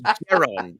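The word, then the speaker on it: Jaron: It's Daron.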